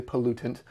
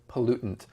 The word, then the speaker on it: pollutant: Now, you may notice I I said it like pollutant, okay? Or you could say pollutant. Uh sometimes when we say this word quickly, kind of like the word important, it becomes important or pollutant.